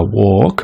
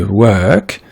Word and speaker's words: work: On a aussi le mot work, ok, qui se prononce pas walk, mais work.